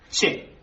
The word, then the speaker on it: che: Che. ¿Es con la CH bien pronunciada?